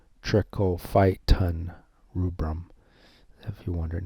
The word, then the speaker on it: Trichophyton rubrum: different types of t-rubrum that's pronounced trichophyton trichophyton rubrum if you're wondering how